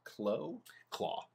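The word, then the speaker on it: Klaue: I love Andy Serkis as, is it pronounced Claw? Yeah. I love him as that.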